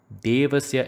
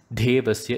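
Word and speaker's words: देवस्य: On the contrary, Devasya should be pronounced without the force because you do not find a H after the alphabet D in Devasya. So pronouncing Devasya as Devasya is wrong. It should be Devasya without the force.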